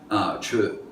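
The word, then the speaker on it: Chöd: CHO with an umlaut D is how we spell it in English. Chud, how it's pronounced, which is course meditation,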